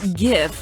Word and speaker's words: GIF: The word GIF is pronounced with a hard G, like the word graphic.